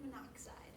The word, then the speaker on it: monoxide: we use mono but we don't say mon oxide because it looks like manide too many syllables we try to simplify it and we just say monoxide but remember on the